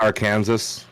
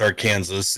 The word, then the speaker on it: Arkansas: and pronounce this come on what like it's pronounced Arkansas yeah yeah and everywhere but when you go there um I know that it's our Kansas and we got our Kansas City and the